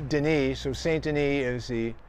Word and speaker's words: Denis: kept the name and it's actually in french it's denis so saint any is